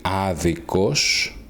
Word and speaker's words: άδικος: Note the difference in the stress. Okay, the words in os will have the stress in a different syllable. The adjective will be άδικος and the adverb will be αδίκος.